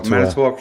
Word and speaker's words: Manitowoc: Manitowoc County. That's correct. Manitowoc County.